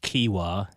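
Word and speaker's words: Keewah: He knew his name was Keewa. Is that how you pronounce it? Uh so my first name was Keewa, k e e w a h.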